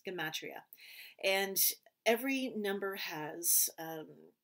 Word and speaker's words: gematria: uh it was called the matria i think i haven't pronounced that word properly it's gematria and every number has